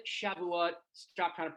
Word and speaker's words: Shavuot: Shove it, Shavuot. Stop trying to pronounce our holidays.